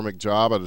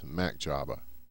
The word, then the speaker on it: MacJabba: We'll go back down into the Quebec zone for McJabba to take it. I used to call him MC Jabba, but it's MacJabba.